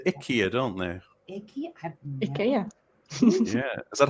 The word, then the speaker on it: IKEA: And so I got that's an IKEA I think it's called a Sandstrom.